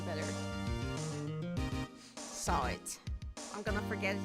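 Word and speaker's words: Sahwit: Saw it. What do you think? It's saw it to the stand. I think H is silent. It's like how you say saw it.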